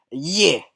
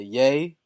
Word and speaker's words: ye: Today, we're going to review Yeah! Or should I say Yay, as Kanye likes to pronounce it.